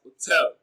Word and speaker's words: hotel: Now, hotel is stressed on its second syllable as hotel.